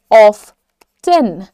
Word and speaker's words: often: अक्सर क्लास लेती हैं, तो अक्सर को अंग्रेजी में आप दो तरीके से प्रोनाउंस कर सकते हैं. ऑफन, ऑफन, ऑफेन नहीं है, ऑफेन कुछ नहीं होता है, ऑफन. या फिर आप इसको ब्रिटिशर्स जो इंग्लिश बोलते हैं वो लोग कहते हैं ऑफ्टेन, ऑफ्टेन.